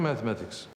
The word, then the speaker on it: mathematics: How's your mathematics? How's your mathematics? How's your mathematics? Mathematics. The stress is on the second M.